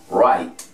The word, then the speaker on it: write: vamos con esta otra la w antes de la r en una palabra inicial no va a tener ningún tipo de sonido tampoco hay que colocarla porque si no aquí no diría escribir pero la pronunciación vamos a comenzar desde la r vamos a decir wright